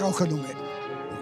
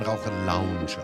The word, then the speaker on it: Raucherlounge: Ja, meine Damen und Herren, ganz, ganz herzlich willkommen hier in der Raucherlunge. Ich glaube, Karin, das spricht man Raucher-Lounge aus. Ja, nicht so lustig, gell?